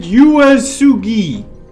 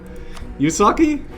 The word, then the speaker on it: Uesugi: You pronounce it Uesugi. Yusaki? Uesugi.